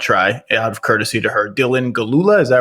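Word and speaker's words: Dylan Gelula: an outstanding actress whose name i'm going to mispronounce so i don't even want to try out courtesy to her dylan galula is that right yes that's right it's perfect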